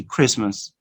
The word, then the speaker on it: Christmas: In a fast way, Christmas, Christmas, Christmas. No t sound. You omit the t, all right?